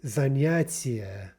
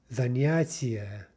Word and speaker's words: занятие: The word for activity, занятие, занятие, soft T, right, soft N as well. And there's a good example in Russian. Another general principle is you're going to have as many syllables as you have vowels, right? Every vowel makes a sound. Every vowel constitutes a syllable. And so занятие, four vowels, a, ya, e, ye, therefore four syllables, four full syllables. So again, be sure to pronounce that yeah fully.